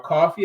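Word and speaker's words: Ko-fi: have our Patreon initiative, our Coffee initiative, which is spelled KOFI.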